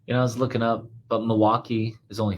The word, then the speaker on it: Milwaukee: And he goes, actually, it's pronounced Milwaukee. It's an Indian language, something.